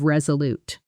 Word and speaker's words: resolute: this at natural speed where was resolute often blends together slightly almost like was resolute with the stress landing hard on the second syllable of resolute.